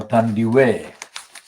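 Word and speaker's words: Thandiwe: reclaims her original name natandiwi or tandy way the original african pronunciation she dropped it when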